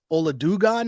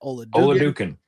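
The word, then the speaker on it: Oladokun: And I'm guessing it's your man's Chris Oladugan. How am I pronouncing that? Oladukan.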